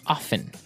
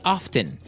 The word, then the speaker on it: often: people like to pronounce often right they kind of leave out the strong T sound while other people say often right both forms are